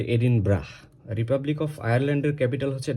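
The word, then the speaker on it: Edinburgh: পরীক্ষায় আসতে দেখা যায় আমরা অনেক সময় এটা প্রোনাউন্স করি এডিন বারা এডিন ব্রো এই এইভাবে বাট দিস ইজ এডিন ব্রা বানানটা বি ইউ আর জি এইচ হলেও এটার উচ্চারণ হবে এডিন ব্রাহ রিপাবলিক অফ আয়ারল্যান্ডের ক্যাপিটাল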